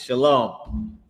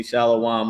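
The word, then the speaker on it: שָׁלוֹם: It's shalom. And some people pronounce it wrong and they say shalawam or whatever but they pronouncing it wrong but that's the word it's shalom.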